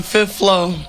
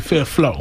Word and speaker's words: Fifth Flow: So we got to talk about you guys' new project, The Fifth Flow. Yes. I ain't gonna say floor. Well, I pronounce it Fifth Flow.